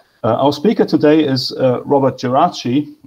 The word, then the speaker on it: Geraci: Our speaker today is Robert Geraci. I will stick with the Italian pronunciation of his surname because I wouldn't know how to do it otherwise.